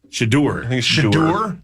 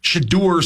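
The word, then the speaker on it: Shedeur: your job is safe how you say it shadur shadur Sanders he won't be a first round pick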